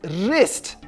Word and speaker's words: wrist: Now, John, Janet asked you to spell the word wrist, which is spelled W-R-I-S-T. The W is silent.